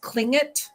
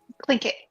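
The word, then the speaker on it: Tlingit: Clink it. Clink it. It's kind of like that. She said like you go clink it like that's how you're supposed to work on Yeah.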